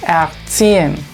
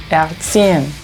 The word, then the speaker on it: erziehen: Por ejemplo, esta palabra se lee erziehen, erziehen, o esta arbeiter, arbeiter, y esta ua, ua. Es muy sutil el sonido de la R porque le precede una vocal, así que mucha atención.